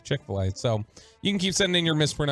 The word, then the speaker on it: Chick-fil-A: Chick-a-fil-A, how my southern butt says it. Chick-a-fil-A instead of Chick-fil-A.